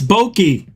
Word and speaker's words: bokeh: That's bokeh. That's bouquet.